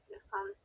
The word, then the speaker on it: descendent: Descendant. Okay. Oui, on ne prononce pas E-N-T.